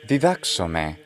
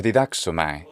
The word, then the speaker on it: διδάξομαι: Here we get to have the word didaxome or didaxomai in an older pronunciation.